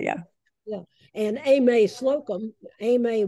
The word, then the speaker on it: Aimee: Aimee, we know that the name because of Eudora's friend here in Jackson was Aimee, so that'll be the pronunciation here.